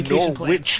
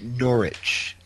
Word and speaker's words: Norwich: didn't realize until well if you're a nor witch fan then you should you should pronounce it Norwich yeah I know I